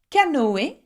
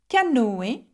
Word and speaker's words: canoë: Or canoë, canoë, okay, and canoë means canoeing, okay, and you can see that I'm pronouncing the O and the E very differently because it has a tréma on top of the E, okay.